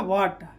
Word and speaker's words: what: जैसे WHAT, तो यहाँ पर H क्या हो जाएगा? साइलेंट। तो क्या हो जाएगा? वाट, ठीक है।